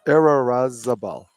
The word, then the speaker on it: Irarrazabal: Andrea, it took me a while to pronounce this name. Irarrazabal. It's Irarrazabal.